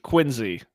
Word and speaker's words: Quincy: But it's pronounced I forgot him. yes, exactly. Quincy.